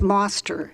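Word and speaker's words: Mostr: my last name is moner it's spelled m o s t r and it's pronouned pronounced like you would pronounce Foster only it's moner thank you thank you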